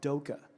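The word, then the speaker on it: DOCA: layer on top is called Doka, rhyming with Cuda, you know?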